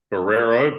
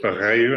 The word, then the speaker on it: Barreiro: So the first club was Barreiro FC, spelt Barreiro, but pronounced Barreiro, and I didn't get that for about 3 months, so I was definitely the foreigner on that team who didn't know what he was saying.